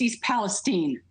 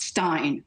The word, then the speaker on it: East Palestine: It's East Palestine, not Stein.